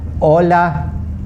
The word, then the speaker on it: hola: Okay, as in hola, hora, Horacio, horror. You see, the H's are silent in each case.